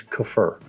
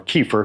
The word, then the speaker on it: kefir: And like I said, and if you want to know how to pronounce it correctly, it's kefir. Okay, and 48 hours later, we're done. That's it. So the kefir, as it's pronounced, or kefir if you want to call it that, is done.